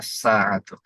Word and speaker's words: الساعة: সাআতুন, الساعة এখানেও লাম উচ্চারণ হবে না, আসাআতু।